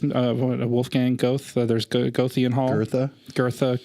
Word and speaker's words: Goethe: Goethe, Goth. Goethe, I think is pronounced.